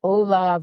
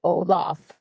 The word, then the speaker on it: Olav: And, we've always had the controversy about, is it Olav or is it Olaf? Well, it turns out it is both.